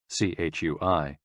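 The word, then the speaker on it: 吹: CHUI, pronounced like chui, with a forceful exhale, which is also associated with the kidneys.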